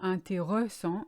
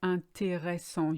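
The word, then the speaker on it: intéressant: it's usually really mispronounced people say either an taeho song or anti song just like in English you skip the middle or a yes you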